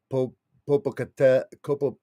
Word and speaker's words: Popocatépetl: Popocatépetl.